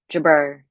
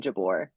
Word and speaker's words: Jabeur: Should I say Jabeur? Say it how I should say it, or spell it how I should say it. Jabeur. I guess yeah. I was saying Jabor.